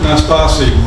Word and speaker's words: Nastasi: This is Sue Nastasi, Nastasi. And thank you for pronouncing it so correctly.